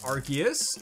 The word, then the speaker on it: Arceus: Obviously, Arceus is how you pronounce it, everybody. You've heard it here. Actually, I'm just basing that off what they said in the movies.